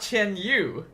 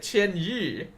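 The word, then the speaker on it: Chen Qianyu: Oh, it's Ten Yi, not Chen Yu. Okay, you know what? I'll give them props for actually sticking to the Chinese pronunciation because you could very easily just say Chen Yu and I thought that's what it was, but they pronounced it cheni, which is a very difficult sound for non-Chinese people to pronounce.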